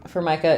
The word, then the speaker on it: Formica: No, so in English, usually Formica is on the second syllable, but in other languages, it may be stressed on the first syllable.